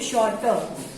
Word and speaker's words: shorter: वो साइलेंट होते हैं, जैसे कि शॉर्ट तो शॉर्टर, तो इसमें हमें आर नहीं सुनाई देता।